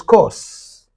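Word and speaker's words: coarse: laughter Co laughter in in the Indian pronunciation you say co co means rough and harsh actual pron is course course course course means rough harsh okay laughter and uh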